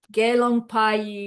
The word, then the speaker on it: Gelong Pai: It's not Mei and Pei, it's Pai and Mai. Sotarki Do. Gelong Pai means fully ordained monk.